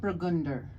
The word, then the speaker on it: Weissburgunder: Weissburgunder. Weiss. Yeah, I'm Burgunder. maybe not pronouncing it totally right, but probably close.